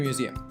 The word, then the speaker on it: Museum: Finally, Chime Museum. The mu, z, and are emphasized, and the emphasis on the second syllable.